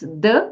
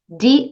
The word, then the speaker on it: the: três letras né th h e d a pronúncia é d mesmo porque a próxima palavra começa com som de consoante Plants the plants no exemplo que eu te dei Nesta